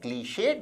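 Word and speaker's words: clichéd: शब्द का उच्चारण है क्लीशेड। इसमें इ के ऊपर एक्यूट एक्सेंट या स्ट्रोक भी होता है।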